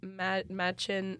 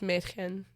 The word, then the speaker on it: Mädchen: From Twin Peaks, Machin Amick. I always say her name wrong. I'm so sorry. That was absolutely. Her name freaking Mädchen, freaking girl. Yes. In German. Yeah, Mädchen? it's Mädchen.